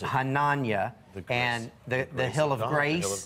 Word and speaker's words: Hananiah: Now you know how to pronounce it. Hananiah.